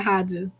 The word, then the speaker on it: Haja: So I want to pronounce something else. I know it's like that, but it's Haja, right? Yeah, Haja.